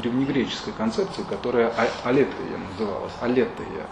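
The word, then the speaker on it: ἀλήθεια: Он возвращается в концепцию истины к древнегреческой концепции, которая алетея называлась. Алетея, а отрицательная частица, нет, по-гречески алетея. Ударение, да, ударение на эту алетея.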